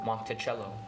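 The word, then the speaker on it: Monticello: R Maine it's Maine give me the correct pronunciation of the Italian style home of Thomas Jefferson the name is Italian for little Ro mon cello that's correct convert 2 and 1/2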